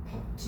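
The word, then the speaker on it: 밟지: 2번은 어떻게 될까? 밥지. 밥지야. 밥지.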